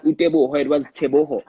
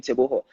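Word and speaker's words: Teboho: name birth certificate so white people couldn't pronounce te boho so as a kid it frustrated me so much that i told my dad i don't like these people calling me taboo like you know i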